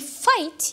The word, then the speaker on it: fight: الاش تاعي ما يتقراش، وعندي fight يحارب عندي جي اتش هذا ما يتقراش.